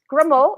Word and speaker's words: Gremaud: Gremaud, yes, it is.